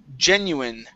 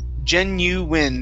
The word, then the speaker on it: genuine: Next up is the word genuine, right here. Genuine. The I is a short I sound.